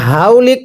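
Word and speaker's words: حولك: হাউলিক। এটাকে যদি হাউলিক পড়ি পড়া শুদ্ধ হবে না, হাটা উচ্চারণের সময় গলার মাঝখান থেকে বাতাস বের করে হাউলিক পড়তে হবে।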